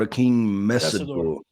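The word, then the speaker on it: Akheem Mesidor: We have to talk about a King Messor, right? I I think that's the proper way to pronounce it.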